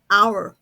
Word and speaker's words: hour: ครู ออก เสียง ค่ะ ครู ไม่ ได้ ออก เสียง ตัว H นะ คะ ครู ออก เสียง ตั้ง แต่ ตัว O เป็น ต้น ไป นะ คะ Our Our ส่วน คำ ที่